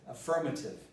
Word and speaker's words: affirmative: Affirmative. It's not affirmative, it's affirmative. Afford.